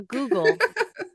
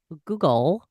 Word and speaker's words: googol: A Google. It's actually Just one more spelled time, Allison. Go on. A Google, but it's spelled Googol, just so you know. Google, but it's pronounced Google, is the number 1 followed by 100 zeros.